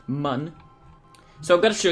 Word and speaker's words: Mun: Or, since it's Kerbal Space Program, it's pronounced mun.